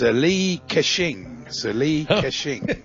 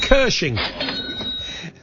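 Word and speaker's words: Li Ka-shing: senior advisor to multinational ck hutchinson holdings it's lee kashing and against his many uh amongst his many achievements i believe he invented the cash register it was very lucrative isn't it pronounced cursing no it's k a dash s-h-i-n-g you're allowed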